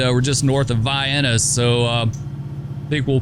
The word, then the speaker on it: Vienna: but look at there they even got the pronunciation in the uh location tag it is Vienna it's not no relation to the sausage though it has nothing to do with sausages but uh anyway Vienna